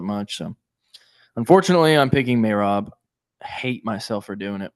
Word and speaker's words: Merab: Um, may Rob. Dude, that drives me nuts. I don't care if that's the correct way to say it. It sounds ridiculous. It's really hard. It's really hard for me to say. I I'm trying to, but weird. May Rob. That sounds like I don't know, Mayflower something. I may rob you later tonight.